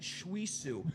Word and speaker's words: Shwisu: Let's see, how does that Shuisu? Okay, so the W is silent at the end.